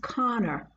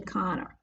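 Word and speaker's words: Kanner: leo connor and connor is spelt k-a-n-n-e-r but is pronounced conor um a lot of people want us to call it canner but it's actually connor um dr leo connor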